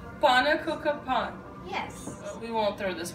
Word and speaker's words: pannekoeken: Frank pen p p p p p p pa cooka Pon yes we won't throw this one up okay